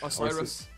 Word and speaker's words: Osiris: Is it pronounced the Orsis? Orsis? What? Orsis. Osiris.